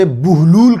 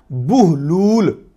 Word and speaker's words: Buhlool: तो यही सूरत हाल हुई लफ्ज़ बुहलूल के साथ। असल में प्रोनाउंसिएशन क्या है? बुहलूल। बहलूल भी नहीं है, बहलूल भी नहीं है।